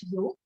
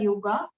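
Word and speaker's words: योग: o g a right in sanskrit it is you but when we translate it to english a is added at the end of any term right so you read it as yoga but actual pronunciation is you so yo this term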